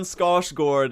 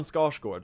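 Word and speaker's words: Skarsgård: We're getting Stellan Scotchgard as as uh as the Radiance. That's right. That's my fan cast. What is this movement? Is that how you pronounce his name? Stellan Scarsgard.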